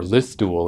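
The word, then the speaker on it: Listowel: So he's actually from Listwell, which is that or Listwell is how they pronounce it.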